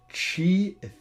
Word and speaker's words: Qi: Yvette young for this it's the chi ealer I believe I'm I believe that's how it's pronounced uh for the record